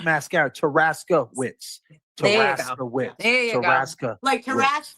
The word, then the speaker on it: Taraskiewicz: No, Wits, like Wits. Yeah, Wits. Wits, Like you have your wits about you. W-I-C-Z. Yeah. So it's Taraskiewicz. Taraskiewicz. Taraskiewicz. Taraska. Oh, like mascara. Taraskiewicz.